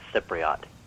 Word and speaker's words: Cypriot: If you haven't figured it out by now, it's Cypriot. Is that what it is? Yeah. CY always has a soft C sound.